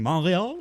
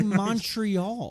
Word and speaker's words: Montreal: I think personally, because I've done it before on this podcast, saying Montreal is very fun.